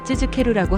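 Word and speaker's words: 続ける: 예를 들어 쯔즈케루 계속하다를 발음할 때 쯔즈케루라고 하는데 즈 뒤에 케 발음이 한국어의 으처럼 들릴 수 있지만 사실은 우에 가깝게 입술을 살짝 앞으로 내밀어 발음하는 것이 더 자연스럽습니다.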